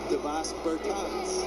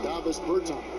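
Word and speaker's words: Dāvis Bertāns: Oh, now, at this point in my life, it's Davos Bertans. Is that how you say his name? Davis Bertans.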